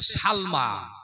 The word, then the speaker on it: সালমা: আবু বকরের নাম হচ্ছে, মায়ের নাম হলো হযরতে সালমা। জোরে বলেন নাম কি? সিন লাম জবর সাল, মিম খারা জবর মা।